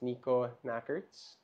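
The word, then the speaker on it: Nikko Nackaerts: So it's Nico Nackerts. That's how you pronounce it then.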